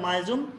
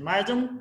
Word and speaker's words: মিয়াজম: বর্তমান সময় অন্যান্য চিকিৎসকরা সিফিলিসকে ভেঙে টিউবারকুলার আরো কয়েকটা মায়াজম তৈরি করেছেন। মায়াজম কথাটা সঠিক না, হবে মিয়াজম, সঠিক উচ্চারণ।